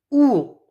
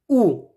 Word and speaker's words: août: Il y a le W de la prononciation. Ici, c'est U1. U1. Juin. Juillet. Juillet. Juillet. Juillet. Août.